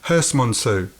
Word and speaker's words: Herstmonceux: How do you pronounce it again? Herstmonceux.